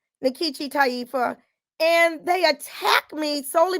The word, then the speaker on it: Nkechi Taifa: is a nigerian name even though i don't pronounce it the way they pronounce it in nigeria that's another issue but